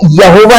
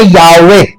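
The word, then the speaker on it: Yahweh: ये Hebrew language में है, हिब्रू में यहोवा नहीं बोलते, हिब्रू में बोलते यावे, यावे।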